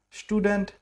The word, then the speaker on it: Student: And student, they are Student, will become the Studentin. Perfect. So in English, we call student. You don't call it student. In German, you call it Student. Yes, so there's a little pronunciation difference.